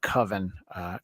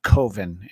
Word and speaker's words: coven: about putting together our our coven koven depending on where you pronounce the word uh what did you